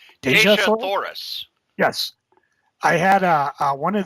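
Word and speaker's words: Dejah Thoris: Cory, and tell me if I'm pronouncing this right. Deja Thoris? Deja Thoris.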